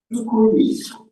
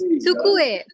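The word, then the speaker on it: 机: Tukui. Tukui ga arimasu. It's Tsukue. Tsukue. Tsukue. Pronounce it. Yeah. Tsukue ga arimasu. Tukui ga arimasu. Tsukue. Utsu. TSU. Tsu.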